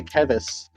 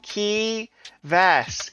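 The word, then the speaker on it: Keyvas: Because a lot of people will say Kevvis to the point where when I was filing my grad work, it had me like do an audio recording of the pronunciation of my name. I'm like key vas ke y v a s.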